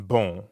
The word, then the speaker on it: bon: Like the on in bon. Exactly. Bon in bonjour is spelled B-O-N. But you don't pronounce that O-N the way you would in English. In fact, the N isn't really pronounced at all.